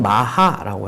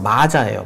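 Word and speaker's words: Maja: 그때도 잠깐 이야기를 하기는 했지만 어, 여기 이게 음버은 마하라고 해요. 마하. 그러니까 스펠링은 이제 영어식으로 발음하면 마자예요. 맞아. 근데 J가 스페 스페니시로 H로 읽히니까 마하 마라고 하면 되는데 어 이게음 5번 마하라는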